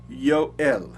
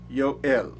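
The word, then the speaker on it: יואל: Su nombre es pronunciado en hebreo Yoel, Yoel, que significa Jehová es Dios.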